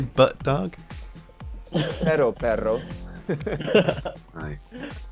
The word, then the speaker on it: perro: Perro. Perro. Oh yeah, No, you gotta make sure you roll the R's, otherwise you're just saying butt.